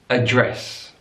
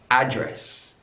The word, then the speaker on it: address: English mobile the benign address address stresses on the last syllable in American English address address stress is on the first syllable looking at the stress